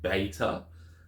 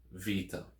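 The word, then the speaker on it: βήτα: is pronounced b as in bat and it's pronounced beta that's the name in arasi and Greek in modern Greek it is V Vita so it pronounces this as v as in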